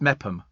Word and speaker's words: Meopham: It's Mepham. Mepham. Oh, right. How do you know that? Somebody's told you? You've Googled it. It's Mepham. Oh, right. Mepham. Why doesn't it say Mepham then?